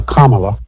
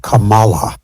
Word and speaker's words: Kamala: They purposely would mispronounce her name, and then instead of calling her Kamala, like you would pronounce Kama, they were calling her Kamala.